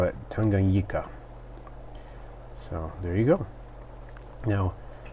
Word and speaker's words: Tanganyika: Because there are so many people in the hobby who, pronounce it differently. So he said the locals call it Tanganyika.